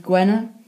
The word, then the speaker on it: Gwener: Friday is D-Z Gwener, spelt G-W-E-N-E-R. Saturday is dydd Sadwrn, spelled S-A-D-W-R-N. Sunday is spelled S-U-L, or until this seal, dydd Sul.